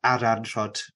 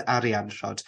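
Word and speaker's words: Arianrhod: I tend nowadays to use the ad ant Rod um pronunciation as opposed to arianshot because to me it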